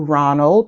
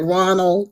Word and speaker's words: Ronald: Is it Ronald? I want to say it correctly. Yes, Is ma'am. it It's Ronald? Ronald.